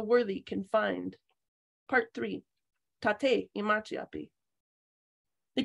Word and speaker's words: Taté: the Prairies punctuated consonants my name is Tate and there's an accent on the E thank you and I